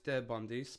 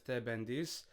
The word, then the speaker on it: Pendis: Now, previously, uh, I taught it as Bandis, but I've done a bit of research and I've realized a lot of people also say bendis, which makes a lot of sense to me because it's it's spelled out uh pi rather than p ali. So, moving forward, I will be changing it and saying bendies uh rather than the bundis.